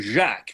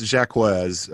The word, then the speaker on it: Jacques: calling him last night we've been calling him jack because it sounds lovely in french but um how are you how are you pronouncing his name it's jacquez um i actually i spoke with him last